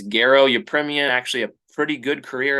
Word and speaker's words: Garo Yepremian: And yeah, it's Garo Yepremian, actually a pretty good career as a kicker.